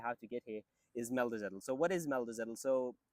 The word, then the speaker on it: Meldezettel: And in return, they would give you a document, which would be pronounced as meldezettel.